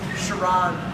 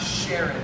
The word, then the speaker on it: Chiron: is a Chiron uh so it's produced pronounced shiron not Sharon very very important so Chiron was an